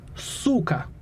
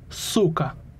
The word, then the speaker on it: suka: you could say Suka the accent on that is on the first syllable Suka give it a shot Suka amazing Su [ __